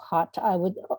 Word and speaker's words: khat: You go right deep into the emotion and the sort of the emotion of khat, of chat, or I don't know how to say it in your way.